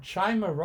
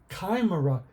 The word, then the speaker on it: chimera: part snake part goat actually I thought I was learning about Chima or Chimera or something like that because that's how it's spelled but Kimera it is in one of